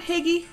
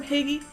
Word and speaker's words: hygge: hear the term higgy do you ever hear the term piggy it's a danish word for happiness it's what people they they just they talk about creating higgy in the home and i pronouncing it totally wrong okay totally getting